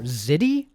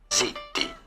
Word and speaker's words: ziti: Ziti? It can't be called ziti. How do you say it? Zitti. Zitti is how it is said in Italian.